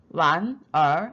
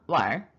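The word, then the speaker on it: 玩儿: 그 다음 얼화할 때 묵음 처리됩니다. 완, 아닙니다. 왈.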